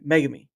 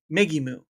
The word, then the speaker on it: Megimu: But I always kept saying Megami. But it's wrong. It's actually Megimu, which for me, I'm like, okay, all right.